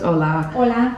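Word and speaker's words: hola: things of how to say so hello is Ola thank you is Gracia Gracia graia um how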